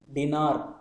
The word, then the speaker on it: dinar: Coming to the currency, friends, dinar. Dinar, its pronunciation is similar to dinner. Its pronunciation is similar to dinner. So try to remember dinar as dinner.